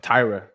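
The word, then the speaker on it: Taira: Tyra how do you say Ty Tyra Tyra Tyra yeah so I feel like that's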